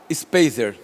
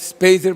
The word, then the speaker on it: Speiser: da Bíblia hoje, é a Speiser, ou Speiser, se escreve Speiser, mas Speiser.